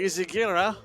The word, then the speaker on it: Izaguirre: It's Javier Izaguirre. As we have been getting lessons from the teammates of Javier, helping us work out the pronunciations there.